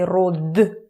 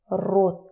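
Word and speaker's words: род: We don't say rod, we say rot.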